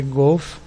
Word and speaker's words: Golf: Aprovado pela OAC em 54 foi Golf. E pelo segundo teste canadense permaneceu Golf. Então a pronúncia mais provável, tom mais forte, Go. Como se fosse Go Off.